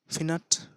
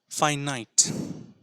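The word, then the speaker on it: finite: এন আই টি ই তাহলে আমি বলে দিই ফিনাট ফিনাট যেমনটা এখানে লেখা হয়েছে কিন্তু না এটা একেবারেই ঠিক নয় তাহলে ঠিকটা কি ফাইনাইট এবার আশ্চর্যের ব্যাপার দেখুন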